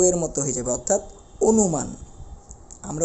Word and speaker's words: অনুমান: বুঝতে পারতেছি একই রকম ভাবে যদি আমরা বলি অনুমান দন্তন্য ন এর সাথে একটা কি আছে রসুকার রয়েছে যেহেতু রস উকার রয়েছে তাহলে তাহলে অবশ্যই এই অ এর উচ্চারণটা ও এর মত হয়ে যাবে অর্থাৎ অনুমান আমরা উচ্চারণের সময় আমাদের বলতে হবে অনু মান